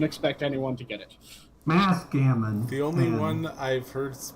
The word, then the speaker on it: Mathghamhain: Last part is Mathghamhain, which it's Old Irish Gaelic. I don't expect anyone to get it. Mathghamhain.